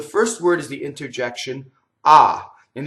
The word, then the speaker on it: ah: Okay, so the first word is the interjection ah, and the H is silent, obviously, right?